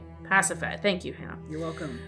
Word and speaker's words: Pasiphae: Pasiphae.